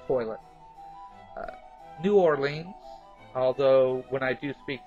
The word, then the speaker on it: New Orleans: know might say toilet otherwise it's toilet uh New Orleans although when I do speak to my colleagues down there I do say New Orleans nland you know but it it is New Orleans it's two words uh pan uh pean is